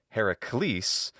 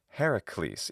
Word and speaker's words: Heracles: That's why it's not Heracles, but Heracles, even though the accent's on the last syllable, because we follow the stress accent pattern influenced by the stress accent rules of Latin.